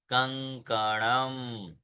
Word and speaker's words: कंकणम: वहां पे वापस अगर आप देखेंगे तो ये जो चिन्ह है वो क ख ग घ ng, ng वो आता है, इसलिए केवल हल्का सा अनुनासिक करेंगे तो उच्चारण शुद्ध होगा। कंकणम, पुष्पम, फेनकम, पुष्पम, फेनकम।